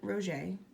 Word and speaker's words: Roget: Peter Mark Roget, pronounced Roget, born 1779 and died in 1869.